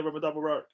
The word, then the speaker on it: Ramadan Mubarak: Mo, Ramadan Mubarak. Hey, man. Thank you, sir. Did I say it right? Fasting. What? Did I say it right? Yeah, Ramadan Mubarak.